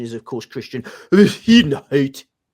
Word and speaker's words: Bezuidenhout: I mean, the correct pronunciation is, of course, Christian Bezuidenhout.